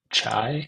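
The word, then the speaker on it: chi: operations um so yeah just use the chai I think is what it's how it's pronounced and go uh just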